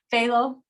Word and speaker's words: phthalo: Deep crayon yeah yeah how do you say the pH when I always get it phthalo pale blue I always get it really silent okay I will blue